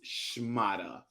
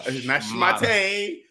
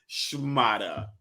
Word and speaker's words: schmata: This week's word of the week is schmata. All right, that's how you pronounce it. Okay, it's not schmate, schmata.